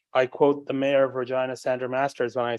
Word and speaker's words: Regina: quote the mayor of Regina, Sandra Masters, when I say it is a city that rhymes with fun.